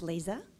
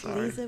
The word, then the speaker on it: Liza: My name is Lisa. Liza with a Z.